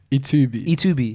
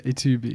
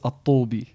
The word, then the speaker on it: Ettoubi: How do you pronounce it? Ettoubi. Yeah, Ettoubi. Moroccan, right? Yeah, in Arabic it's Attoubi.